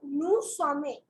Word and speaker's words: nous sommes: We are is nous sommes. Nous sommes. In this case, you do not pronounce the S.